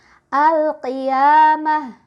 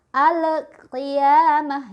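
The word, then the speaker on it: القيامة: Alif Lam Qomariah jadi kita bacanya lamnya alif lam nya jelas al-qiyamah yang salah Alex kriyamaha itu salah yah mantul atau alpha Lia mau itu juga salah karena alamnya ditahan contoh selanjutnya perkalian Hai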